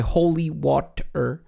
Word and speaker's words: Holywatr: Holywatr, but it's spelled Holy, W-A-T, and then R. So like, Water. What? Okay. No, I think it's just water, and I think it's just water. I'm just trying to pronounce how it would look